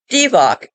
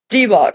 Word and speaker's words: Divoc: However, they claim this is a coincidence, as the Hebrew letter bet or two can be pronounced B or V.